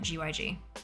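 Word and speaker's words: Guzman y Gomez: Oh, Guzmani Gomez. Yeah. But yeah, we pronounce the letters. We call it GYG.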